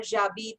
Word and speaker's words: habite: So you can say j'habite à Delhi or j'habite à Noida. Okay. J'habite. So H nahi pronounce karna.